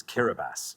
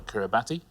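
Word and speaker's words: Kiribati: The next one, you need to know your pronunciations of countries. This is Kiraabas. Kiraabas. Yeah. Kirkanoa and Abas. Kirabas. Spel Kiraabatti. But Kiraabas is how you pronounce it.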